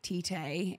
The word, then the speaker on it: Tite: Like Tite, is that how you say his name?